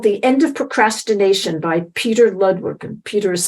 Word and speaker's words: Petr: little book called The End of Procrastination by Petr Ludwig, and Peter is spelled P-E-T-R.